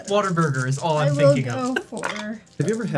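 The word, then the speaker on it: Whataburger: Also, because they pronounce it waterburger.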